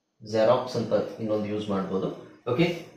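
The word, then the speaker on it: Xerox: okay ಸ ಇದು ಜಾನನ್ ಅಂತ ಹೇಳಬಹುದು ಇನ್ನೊಂದು ಪದ ಕಾಮನ್ ಆಗಿ ಗೊತ್ತಿರೋದು ಎಲ್ಲರಿಗೂ ಗೊತ್ತಿರುವ ಪದ ಜೆರಾಕ್ಸ್ ಜೆರಾಕ್ಸ್ ಅಲ್ವಾ ಜೆರಾಕ್ಸ್ ಅದನ್ನ ನಾವು zಡ ಉಚ್ಚಾರಣೆ ಉಚ್ಚಾರಣೆ zಡ ಅಂತ ಹೇಳಬೇಕು ಬರಿಬೇಕಾದ್ರೆ x ಅಂತನೆ ಬರಬೇಕು ಪದದ ಸ್ಟಾರ್ಟಿಂಗ್ ಅಲ್ಲಿ ಬಂದ್ರೆ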